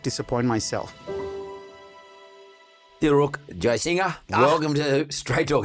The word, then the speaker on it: Jayasinha: It's just there's an invisible G that my ancestors have dropped, but it needs to be pronounced because it's Jayasinha, like someone singing songs.